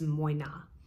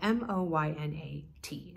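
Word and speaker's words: Moynat: people know about is moyna spelled m-o-y-n-a-t and I believe that I am pronouncing it correctly if I'm not please correct me in the comments below but I think it is moyna and they have a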